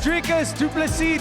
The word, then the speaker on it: Dricus Du Plessis: Learn the name, it's Dricus Du Plessis. The S is silent.